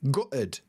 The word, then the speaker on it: gutted: They're quite likely to use the word gutted, gutted, gutted. Or, like in my accent, we use a glottal stop, so I say gutted, gutted, and I don't pronounce the T's in the middle.